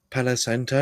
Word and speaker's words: Palo Santo: Palo Santo.